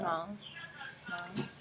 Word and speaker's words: month: Month. So say month. Yeah. The. So you got the at the front of the mouth.